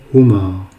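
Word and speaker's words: هما: Lorsque vous adressez à 2 garçons en leur absence, donc vous allez dire huma. Huma. Huma. Et donc huma est composé de 3 lettres. Donc le ha, le mim et le alif.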